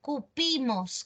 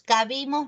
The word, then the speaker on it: cupimos: No, el verbo caber en pasado es cupimos. Cabimos no se dice.